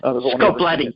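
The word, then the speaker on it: Scoblete: part of that is Frank Scobletti, if I'm pronouncing his last name right. Scobletti.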